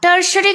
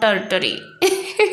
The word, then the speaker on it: tertiary: tertiary consumers see guys its pronunciation is tertiary not territory those who belongs to my ultimatum even i do a territory i was calling but it's not a it's tertiary consumers tertiary consumers are animals